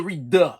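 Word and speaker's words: Redux: This is the Reduh I talk about. Am I pronouncing that right? R-E-D-U-X. Reduh. Is it Reduh?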